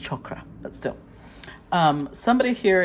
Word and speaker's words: chakra: see I love that actually it's pronounced chokra but still um somebody